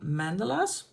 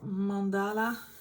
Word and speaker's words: mandala: I have are the mandelas I have a few I have 50 Springtime mandelas and you can see it's not all classic Mandela or mandala depends on where you live how you pronounce it they are can